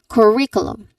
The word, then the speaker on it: curriculum: One more time, curriculum.